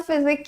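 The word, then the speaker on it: physique: अगर ऐसा है तो ये वाला फिजिक्स क्या होता है फिर भाई? फिजिक। दोनों देखो, साउंड भी अलग है, प्रोनाउंसिएशन समझो आप। फिजिक, फिजिक्स एंड फिजिक।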